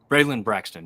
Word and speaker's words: Braylon Braxton: Braylon Braxton, yeah.